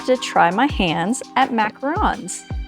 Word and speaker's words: macaron: So, for this hard one, I have decided to try my hands at macarons. Macaroons. Macarons. I think macaroons are something different. I think it's pronounced macaron.